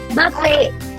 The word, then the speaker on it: buffet: This word can either be pronounced as buffet or it can be pronounced as buffet. Both are correct pronunciations.